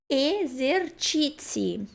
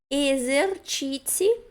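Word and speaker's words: esercizi: Então, cuidem que CI sempre vai ser ti e ZI vai ser zi.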